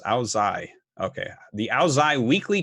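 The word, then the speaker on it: Ao Dai: Okay, that Ao Day, pronounced Ao Zai.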